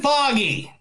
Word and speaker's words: Feige: I'm pretty sure it's pronounced Feige.